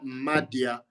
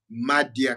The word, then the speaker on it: Madia: En tout cas, soki nano moni nano yoki ete kende oluka ye Madia ka ndenge oyoki na prononce yango M-A-D-I-A Madia Nia eza N-E-A-H.